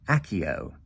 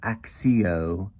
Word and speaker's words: Accio: Say it with me, Accio. It's spelled A-C-C-I-O. Not Accio, not Axio, Accio, simply. So, I am going to